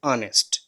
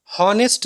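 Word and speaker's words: honest: ठीक है, और ईमानदार का क्या होता है, ऑनेस्ट। हॉनेस्ट नहीं बोलना फ्रेंड्स, हॉनेस्ट गलत होता है प्रोनाउंसिएशन। ठीक है, इसका सही प्रोनाउंसिएशन होता है जो है ऑनेस्ट।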